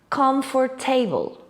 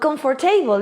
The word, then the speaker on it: comfortable: which is something like comfortable. But comfortable is not right at all. This word is pronounced in 3 syllables. Comfortable. Comfortable.